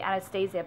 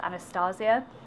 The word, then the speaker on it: Anastasia: I want to say Anastasia, but it's actually pronounced Anastasia.